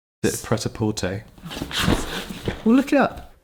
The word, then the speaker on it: Prêt-à-Porter: My number 3 is Prêt-à-Porter. Is it Prêt-à-Porter? We'll look it up. Prêt-à-porter would be the typical French pronunciation, but it'd be fine in English or American to say Prêt-à-porter.